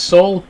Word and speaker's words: Saul: asks what's my name my name is Saul s a l rhymes with Paul that's the name I